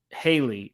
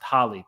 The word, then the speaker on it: Halle: response and thank you I was calling her Haley but it's pronounced Holly thank you for the